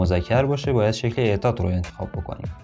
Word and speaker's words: это: noun, we choose form "этот" For feminine nouns, we choose "эта", with an "-а" at the end For neuter nouns, we choose "это", with an "-о" at the end, which we pronounce like [a] FYI, the exact pronunciation